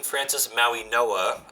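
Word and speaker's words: Francis Mauigoa: Francis Maui Noah is how you pronounce it by the way.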